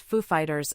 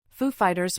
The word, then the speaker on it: Foo Fighters: of host Nate baratza Foo Fighters were the musical guest during his 2003 episode during which Dave gr pranked Walkin into speaking with the emphasis on Fighters instead of Foo clips of the introduction